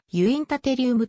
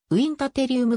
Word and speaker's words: ウインタテリウム: 由来するまた日本では英語の発音による影響からユイン立リウムと呼ぶ場合もあるが国際 i 命名規約に基づいたラテン語式のウィン立リウムが望ましいウインター蹴り生むの趣旨は